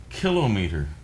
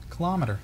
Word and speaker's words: kilometer: makes me nuts is kilometer kilometer we've lost that fight i realized no something that's pronounced that way would be a device for measuring such things kilo equal syllabic stress meter a distance you want your own